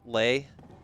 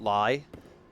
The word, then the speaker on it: Lei: way I was corrected the currency in the game is pronounced Lei not lie you will learn what